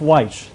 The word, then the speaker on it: Wyche: for analysis is author and business executive whites I pronounce that correctly ke absolutely thank you for